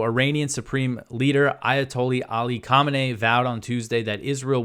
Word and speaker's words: Khamenei: Khamenei said, quote, or Khamenei, his name is very similar to the first Ayatollah Khomeini, but his name is pronounced Khamenei.